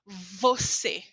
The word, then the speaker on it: você: a pronúncia desta letra esta letra em português se chama v e você precisa colocar os seus dentes de cima eles precisam tocar os lábios de baixo você fala você você cuidado porque em